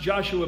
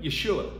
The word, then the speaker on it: Yeshua: unique name in Hebrew it's not actually pronounced Joshua but Yeshua in Numbers Chapter 14